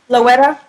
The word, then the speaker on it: La Güera: No, was it how do you say it? LaGuerra? Yeah. It's Team Luetta.